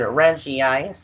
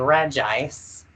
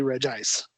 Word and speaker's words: Regice: you been saying it whenever I was younger and first started playing Ruby and Sapphire I said it Reggie ice just because I just said it the way the other two sounded but now that I'm older and wiser I say regice it's just a stage